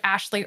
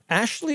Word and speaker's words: Ashleigh: at linkedin to search ashley my name is spelled a little weird because i'm a little weird it's a-s-h-l-e-i-g-h and then like in the morning and links to all